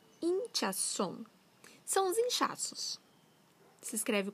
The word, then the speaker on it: hinchazón: Hinchazón. Hinchazón. São os inchaços. Se escreve com H, com Z, com N no final.